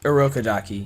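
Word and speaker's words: Urokodaki: when uh just uh remind me how to pronounce todro's uh like teacher's name yorodaki a rokadaki yeah arokadaki um the letter from rokadaki uh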